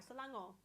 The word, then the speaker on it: Selangor: I don't normally pronounce the R. Selangor.